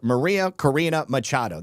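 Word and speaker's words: María Corina Machado: Maria Karina Machado, that's how you say it.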